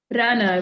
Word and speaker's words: Rana: And maybe right to say the name, pronounce Rana? Reina? Rana, right.